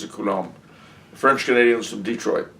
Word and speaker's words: Detroit: French Canadians from Detroit, or Detroit, as it's properly pronounced.